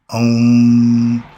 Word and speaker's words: Om: Remember, Om. That's the only pronunciation you can say where it vibrates and it only stays within yourself.